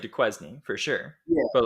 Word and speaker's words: Duquesne: to admit this, but I pronounced it Duquesne for the longest time. And yeah, I wouldn't have admitted that then. Yeah, they're Tide. Yeah, it's Duquesne, and I didn't know that.